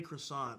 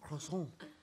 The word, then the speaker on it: croissant: You guys are trying to be all French. Croissant. That's you. Croissant. You're trying to be French. We're just saying croissant. I'm just saying croissant, isn't like... yeah. No, but that's closer to how the French people say it. Isn't so it? Who... Why are you saying what you're saying? Because that's just the way English people say it.